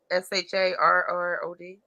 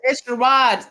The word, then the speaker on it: Sherrod: Sherrod, Sharrod. Yeah, SHE. No, it's Sherrod too, spelled like a black person. Yeah, SHERROD.